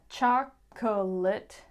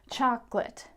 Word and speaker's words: chocolate: are getting deleted, and maybe you think it's a 3-syllable word, like chocolate, turns into a 2-syllable word, chocolate.